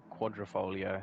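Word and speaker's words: Quadrifoglio: Quadrifolio, there we go. See, Just the G throws you. You don't really need to pronounce it as a G. Yeah. So pretend it's not there.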